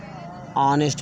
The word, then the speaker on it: honest: यहाँ देखिए ऑनेस्ट मैन, HONEST, ऑनेस्ट, अब कहते हैं ऑनेस्ट मैन, ईमानदार आदमी।